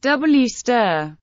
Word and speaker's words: Worcester: English Worcester, pronounced W stir.